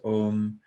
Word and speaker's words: Om: So we spoke about how there's 3 syllables, A, U, Ma, but there's actually a fourth one, which is silence.